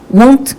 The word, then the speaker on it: won't: 이때 won't 요거는 약간 willy wonka 할 때 그런 발음이라고 비슷하다고 보시면 돼요. 이 won't는 우리가 알고 있는 나 저거 원해요 want랑 굉장히 다른 발음이라는 거 꼭 리스닝 때 주의를 해주셔서 들어주셔야 돼요.